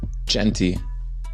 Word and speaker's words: Jeanty: Is that how you say his name? Genty. Yeah, Ashton Jeanty.